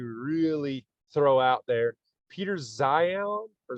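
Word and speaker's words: Zeihan: I want to really throw out there, Peter Zion or Zian. I don't know how to pronounce his last name. Peter Zihan.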